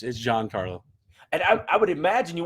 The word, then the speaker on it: Giancarlo: Yeah, I asked his rep, and it's Giancarlo. Okay, making sure. Is it Gian? No, it's Giancarlo.